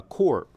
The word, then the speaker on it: corps: French derived word uh Corp for Marine Corps c-o-r-p-s we pronounce it without the the S that's a body of